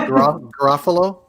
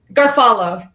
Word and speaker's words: Garofalo: Is it pronounced Garofalo? Garfalo.